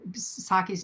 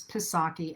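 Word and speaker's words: Psaki: been pronouncing uh saki saki's name as pisaki and that's incorrect it's saki i did look it up the other day so you don't pronounce the p one of those names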